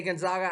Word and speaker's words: Gonzaga: But DraftKings has Gonzaga. You say Gonzaga, I say Gonzaga. I say it correctly.